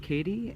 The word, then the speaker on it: Keady: looks like Kati but according to the locals it's pronounced Katie and well engravers I